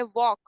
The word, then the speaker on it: walk: देखो इसमें 5 वर्ड्स हैं, फर्स्ट वर्ड ही साइलेंट है, वॉक, हाँ हाँ WALK। ठीक है, एल के लेकिन वो हमारा एल साइलेंट होता है, वॉक, वो वॉक मतलब वो चलना।